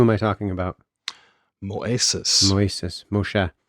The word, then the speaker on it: Moshe: Moshe. Moshe. Sorry. I was using the Greek I pronunciation.